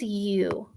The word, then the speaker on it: you: first trick word is you and you is spelled y o u so u is tricky because this o u says u and so it's kind of a funny way of saying it so you just